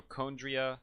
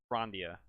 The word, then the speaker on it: Chondria: The characters at least say it like on, like turn on.